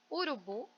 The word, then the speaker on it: urubu: Urubu, bu é a sílaba tônica mais forte, né?